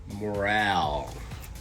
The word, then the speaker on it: Morel: Morel.